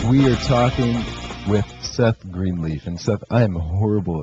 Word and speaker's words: Greenleaf: If you've just joined us, we are talking with Seth Greenleaf. And Seth, I am horrible at this, but tell me I'm pronouncing your last name correctly. Green leaf. That's it.